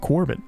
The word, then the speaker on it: Quarbit: logo once in the book itself and that's pronounced Corbin isn't that crazy it's the same as always